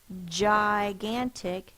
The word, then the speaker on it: gigantic: j j now if you hear our word gigantic it's the J sound J so G and